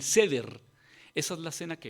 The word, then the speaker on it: Seder: Entre los judíos celebran algo que se llama, y lo compartíamos el viernes, algo que se pronuncia algo así como el Seder.